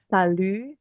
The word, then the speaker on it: salut: Mur ya bongsar bongsar Salu Salu eh itu u-nya Salu Iya salunya enggak kebaca tadi sudah tahu I